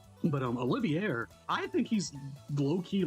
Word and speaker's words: Olivier: Uh Olivier, I believe that's how you say it because that's how they pronounce it in English. But um Olivier, I think he's low-key